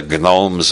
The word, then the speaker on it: gnomes: prime minister called the Gnomes of zorich everybody else pronounces that gnomes but Harold Wilson believed the G should be pronounced he said the Gnomes